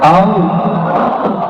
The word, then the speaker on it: Allah: Lafaz Allah. Coba baca Allah. Saya orang Sunda bacanya Allah. Ya, Allah. Itu bukan, dia lam ketemu lam. Allah harus disambung, bukan mati.